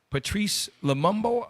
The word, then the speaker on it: Patrice Lumumba: Okay, just like they did with Gaddafi, just like they did with Patrice Lumumba.